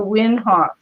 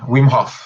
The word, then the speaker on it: Wim Hof: Zach, Pascal has done the Winhoff. Is that the way to pronounce it? With The the Winhoff. Oh yeah, Wim Hof.